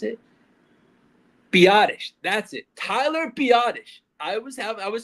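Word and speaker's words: Biadasz: Tyler Biottish. I was have I was saying badass so much on last episode. It's Tyler Biottish. the center. That is his name. It's Tyler Biadish. Not badass.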